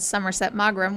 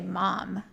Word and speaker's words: Somerset Maugham: to tell me that I said Somerset Maugham, which I did, and you just say Mom.